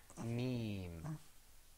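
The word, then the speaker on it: ميم: Okay, because also when you pronounce the meme, you pull the corners of your mouth back. You say meme.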